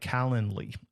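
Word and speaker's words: Calendly: Then you can get up uh set up a tool like Calendarly. It's like calendar, but not Calendar. It's calendarly.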